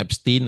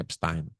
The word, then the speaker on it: Epstein: Takutnya ada yang enggak tahu tu Epstein Files ada yang nyebutnya Epstein, ada yang nyebutnya Epstein. Tapi karena dia itu orang turunan Jerman, saya bacanya Epstein.